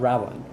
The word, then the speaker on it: Rawan: So my character's name is Ra Wan, right? That's how you pronounce What? it. Ra Wan. Ra Wan. Ra Wan. Rawan? Like Ra Wan. R A Okay. and then W A N, but like one. Right.